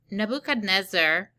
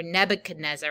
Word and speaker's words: Nebuchadnezzar: So Nebuchadnezzar, or Nebuchadnezzar, I think some people pronounce it that way, he was a figure